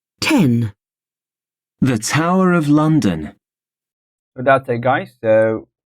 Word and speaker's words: Tower of London: The Tower of London, so first syllables, they take the stress.